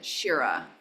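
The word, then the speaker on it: śira: So this is the sh, the palatal S, sh. I'm sorry, dental. With a long I. Shi-ra.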